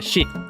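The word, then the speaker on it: 四: En Japón, el número cuatro se pronuncia ship, igual que muerte.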